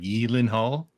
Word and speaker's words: Gyllenhaal: Yeah, apparently he was on a talk show like one time, and apparently it's pronounced like Gyllenhaal.